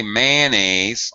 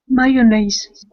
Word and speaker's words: mayonnaise: next one here Monica you should not say mayonnaise although I will tell you Native American speakers all say mayonnaise 99.99% but the proper prep uh pronunciation is what Mayon yes that is correct um I think uh